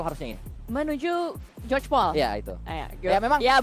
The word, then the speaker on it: Georgopol: Di depan sana juga terlihat menuju Gregopol harusnya ini. Menuju George Paul. Ya itu. Ya memang ya, bener pronunciation sih.